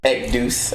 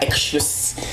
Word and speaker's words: IXOUS: Well, those that try to pronounce the second part is Ekdous, IXOUS, not Exus or anything like that. Yeah, I try. I say Ishus.